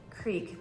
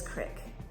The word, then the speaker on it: creek: to say the word Creek but she mispronounces it and she says Crick there's no I in the word so I have no idea where they come up with that but it just literally